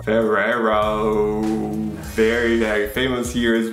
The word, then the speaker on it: Ferrero: Ferrero. Ferrero. Very, very famous here as well. Nutella. Nutella brand. We pronounce it Ferrero.